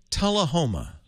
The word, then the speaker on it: Tullahoma: little town called am i saying it right tulla homa yeah you got it right not many people